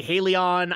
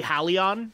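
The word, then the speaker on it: Halion: here be careful so I know that a few people actually say hey Lian I'm gonna say hey Lian cuz that's the way I've always known how to how to say it so alright we now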